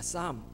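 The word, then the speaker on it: psalm: 10회 뭐라 그러냐 하면 싸움이라고 맙니다 쌈 앞에 피가 묵음 이 줘 이 노래는 요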